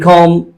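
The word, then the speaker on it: comb: जैसे कि पहले एग्जाम्पल में K silent है, and in psychology P is silent, in com B is silent.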